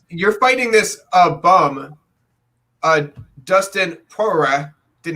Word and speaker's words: Poirier: You're fighting this bum, Dustin Poirier. Did not say his name right. Did not say Poirier at all. Yeah, Poirier. Totally wrong.